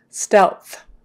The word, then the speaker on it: stealth: what happens is that your l is going to be produced lower probably in the middle so that you can then get the th sound elf else so your tongue is going to touch on the teeth and then blow for the th so touch for l low for th elf elf stealth stealth